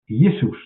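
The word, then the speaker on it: Ἰησοῦς: So this is how we correctly pronounce itus. Yesus or we can say Jesus or we can say Jesus.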